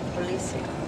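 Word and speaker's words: policía: Policia. I wonder why they're down. No, it's policia. Yeah, look at all of them. The accent is on the high.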